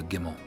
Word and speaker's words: Gimel: We just, I believe over time it got pronounced camel, but it originally stemmed from the Gimel, from the ancient Hebrew Gimel.